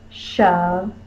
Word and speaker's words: shove: In other words, it doesn't have a lot of force when we say it. The accented syllable in this word is the first syllable. Shove, O. Put the most force on the first syllable. So in an unaccented syllable, the single short vowel, can be a schwa, This O is next to a V, so this is a scribal O that says because a long time ago it used to be a U.